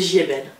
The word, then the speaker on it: Giebel: une question existentielle ah tout à fait c'est JB alors bah on va développer un peu parce